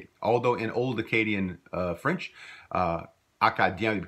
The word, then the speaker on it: Acadien: Although in Old Acadian French, Acadien would be pronounced Acajun with that same J sound as we see here.